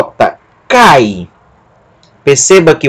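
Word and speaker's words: καί: aqui uma sílaba só vai ser pronunciado cai não é cair não é um hiato cair se fosse um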